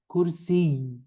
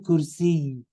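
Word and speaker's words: كرسي: Kursi, the word kursi, it's pronounced not kursi, like in Urdu. We don't, in Arabic, it's kursi. You stress the ya at the end. Ayatul kursi. It's got a little bit of jerk in it, okay? Ayatul kursi. Okay, because of the shadda, okay?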